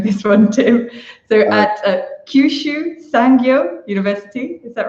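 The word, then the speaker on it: Kyushu Sangyo: you may need to help me with the pronunciation of this one too so at Kyushu sang-gyu University is that right very good perfect and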